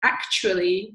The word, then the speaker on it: actually: And we do that quite a lot in English with certain adverbs, like actually, we pronounce it more like Ashley in fast speech when we're going very, very fast.